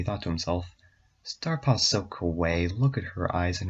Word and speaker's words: kawaii: At that minute he thought to himself, Starpaw's so kawaii. Look at her eyes and her fur. I know it's pronounced kawaii. I just don't think that the author knows.